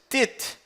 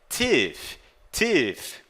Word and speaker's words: teeth: Você não diz tit. Não, isso está incorreto, errado. É teeth.